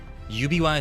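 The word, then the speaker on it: 指輪: Uh, Ubiwa. Ubiwa is how you say ring.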